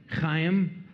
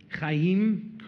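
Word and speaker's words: Chaim: say it your real can you pronounce it Kim that's incorrect well how pronoun emphasis on the second vve kimim correct like a cat throwing off a hairball what's your last name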